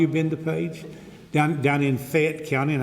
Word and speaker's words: Fayette: Down in Fayette County, and I'd remind you, Fayette is one syllable, not two. Fayette County, not Fayette.